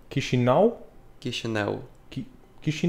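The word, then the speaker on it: Chișinău: have as well so but the original pronunciation will be key chanel key she now key Chanel key if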